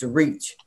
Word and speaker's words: REACH: for Community Hope Foundation we use the acronyms re pronounced reach we have a website